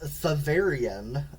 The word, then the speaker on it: Thavarrein: It's Thavarian. If you want to spell it, it's Thavarrein. Okay.